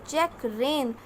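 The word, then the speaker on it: checkrein: This is not, the correct pronunciation is check rein. These two are homophones, like this one, rain.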